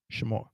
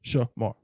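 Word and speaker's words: שמר: The only way for this to be one syllable is to get rid of that. Shamar. 2 syllables, Shamar.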